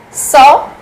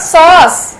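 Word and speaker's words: sœur: French sister is called so so saw not sauce it's not sauce it's saw saw okay in Spanish sister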